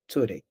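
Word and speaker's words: Zürich: of Switzerland, in the area Zurich, or as they pronounce it, Zurich.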